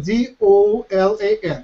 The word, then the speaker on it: Dolan: How do you say his last name? Richard Dolan. D-O-L-A-N.